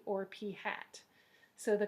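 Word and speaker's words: p̂: hat, which when we talk about it, we pronounce p hat.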